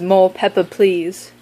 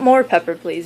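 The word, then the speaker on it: Mo Peppa Please: That other one was Mo Pepper Please. I have to say it like that because it's not more pepper please, it's Mo Pepper Please, okay?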